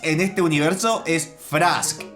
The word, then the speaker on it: Frask: atención, que me estuvieran reclamando, es que se pronuncia Frisk y Toriel, no Frask y Tarial. A ver, esto es Undertale. Frisk en este universo es Frask y Toriel en este universo es Tarial.